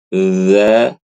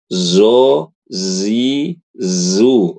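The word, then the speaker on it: ذ: ya dadi jangan dibaca zo zi zu z ini banyak sekali ibu-ibu yang baca huruf zo apa d zai. Kemudian huruf dzal jangan dibaca zai. Zaz zi zu salah.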